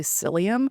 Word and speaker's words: psyllium: So not selenium that's sometimes when I say it people think the mineral selenium but it's actually psyllium which is a plant.